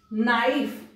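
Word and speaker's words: knife: नाइफ, यदि आप शब्दों का इतिहास पढ़ेंगे तो कभी इसको कनीफ पढ़ा जाता था।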